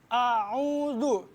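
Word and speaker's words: أَعُوذُ: Dalam pembacaan ta'awuz atau a'udzubillahi minasyaitonirrajim, kita harus bedakan antara alif, a, sama ain, o gitu. Bacanya a'udzu.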